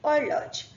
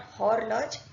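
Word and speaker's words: horloge: okay and or large means a clock is pronounced as or large not horror Lodge it will be all large okay now letter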